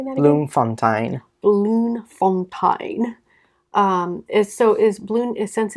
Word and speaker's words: Bloemfontein: Yeah, he was born in Bloemfontein on January 3rd, 1892.